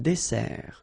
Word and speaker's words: dessert: So remember that we've got here two S, okay? That's the reason why you pronounce it S, and then it opens the E, dessert, un dessert. So you don't say un dessert, okay? But you say un dessert. Final T, not pronounced.